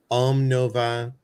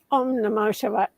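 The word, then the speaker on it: Om Namah Shivaya: I'm going to pronounce this wrong. Om Nova. Oh, Omna Shivaya. Om Namo Shivaya.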